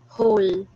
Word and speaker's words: whole: to its whole plus it is not read as whole it is read as ho silent w fourth we have category